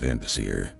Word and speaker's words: Vanadisir: Vanadisir. That's pronounced Vandasir.